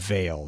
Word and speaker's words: Vale: We talked about Dredgen Vale, and like a veil. It's spelled Vale, but it's also it sounds like a veil that you put over your eyes.